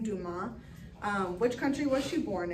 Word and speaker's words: Dumas: So number 1 is asking, in which country was Firoozeh Dumas, and that's how you say her name, Dumas, which country was she born in?